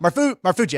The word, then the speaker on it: Marfuggi: Marfuggi, I said it right.